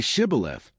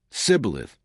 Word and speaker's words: Shibboleth: If he replied, "No," they said, "All right, say Shibboleth." If he said Sibboleth, because he could not pronounce the word correctly, they seized him and killed him at the fords of the Jordan.